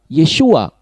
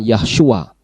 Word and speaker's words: Yeshua: Padahal tulisannya adalah yod syin wo ain yang kalau dibaca adalah Yesua bukan Yahyua. Jadi menurut tata bahasa Ibrani susunannya bukan Yahyua atau Yahosua. Tetapi Yesua dan malaikat Tuhan pun